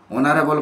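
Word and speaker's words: honourable: the British dash you এখানে কিন্তু এন বসবে অনারেবল পার্সন এইচ দিয়ে উচ্চারণ হলেও উচ্চারণটা ও দিয়ে হচ্ছে এইচ লেটার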